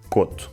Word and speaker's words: Couto: Tanto o apelido Couto como a palavra “coto” se pronunciam “coto”.